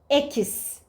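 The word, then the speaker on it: equis: Ekis. Ekis Türkçedeki k sesi gibi okunur.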